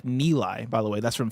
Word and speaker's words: Nilay: Nilay Patel's first name is pronounced like Nilay, by the way.